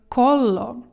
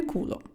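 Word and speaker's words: collo: щось не знаю що ми вимовляємо це як коло тільки не куло а гарно коло коло тому що куло - це вже Дупа це привиду ну якщо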